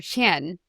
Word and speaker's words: Tsien: And when he first met Professor Adrian, Professor Adrian asked Roger, "Are you Roger Chen?" And Roger was surprised that Adrian had pronounced his last name very correctly.